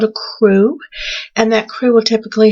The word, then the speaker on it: Krewe: And it's called Crew of Mutts. Now, crew is spelled Krewe because somehow I feel you need to know that.